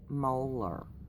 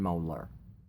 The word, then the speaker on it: Mohler: say I have to read his name dan Mohler I think is how you pronounce it M OHL er and I will